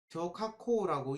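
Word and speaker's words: 小確幸: 쇼카코라고 얘기하는 일본어로는 그렇게 읽습니다.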